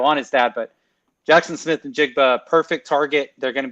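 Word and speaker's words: Smith-Njigba: And so we're going with Jackson Smith and Jigba. Did I pronounce his last name right?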